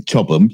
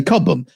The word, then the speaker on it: Chobham: Except it's spelt with an A, so it's Chobham, but you don't say Chobham, you say Cobham.